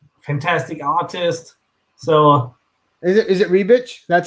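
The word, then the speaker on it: Ribić: In Slavic, Ribic. Ribic? Okay. Ribic. I think that's how we would pronounce it. I guess Germans, Ribic.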